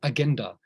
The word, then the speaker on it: agenda: So yes, we're going to create these soft G's, for example. So for example, the word agenda is agenda, even in Latin, or depending on your style of Latin.